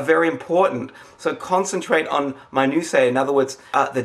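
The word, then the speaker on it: minutiae: something my new say that's m i n u t i a e I didn't PR I didn't say my new my new say I think that's how it's pronounced if I'm wrong wrong too bad it's me I'm saying it now it's pronounced that way my new Sayer means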